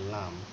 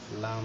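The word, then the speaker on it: ل: মত এটাকে বলা হয় লাম লাম হচ্ছে এটা বাংলা ল এর মত উচ্চারণ অর্থাৎ এটাকে যদি আকার করি তাহলে হয় লা লি লু তাহলে এটা হচ্ছে লাম এটা হচ্ছে মিম মিম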